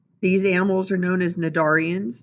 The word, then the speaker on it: cnidarians: These animals are known as cnidarians. Note that the C is silent.